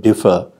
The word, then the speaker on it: differ: And thus, simply by showing the constituent structure of a word such as differ, you could explain why the word differ has stress on the first syllable.